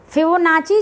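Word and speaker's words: Fibonacci: फिबोनाची जो है, कोई फिबोनाची भी बोलते हैं, लेकिन फिबोनाची जो बोलिए दोनों प्रोनाउंसिएशन सही है।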